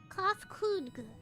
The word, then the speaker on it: Kafkudga: As for the nomenclature to address my individual person, I believe it would be pronounced Kafkudga.